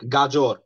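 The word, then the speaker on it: গাজর: we pronounce it gajor. We don't say that z instead of, I mean, we use j. So it's gajor.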